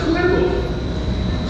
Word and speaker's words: cuervo: So Raven in Spanish is pronounced Cuervo.